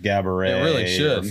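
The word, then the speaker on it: Geberit: should come standard from gabet from Coler whoever makes those cuz is that how you say it gabet it looks like Gerber it I'm pretty sure they pronounce it gabet I don't know maybe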